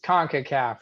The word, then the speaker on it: CONCACAF: show for you tune in um concacaf it's concacaf right you got it nailed all right i